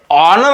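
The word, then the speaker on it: honour: त्याला अ लागते म्हणून इथे ऑनर आहे ऑनर ऑनर ऑनर याला आपण नर नाही म्हणत नर म्हणत त्याला ऑनर म्हणतो ऑनरला ऑनरला बाहेर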